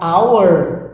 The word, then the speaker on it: hour: Então eu tenho aqui, ó, essa hour é hora, então esse som ele é, o som do H é mudo, então eu vou dizer an hour, tá?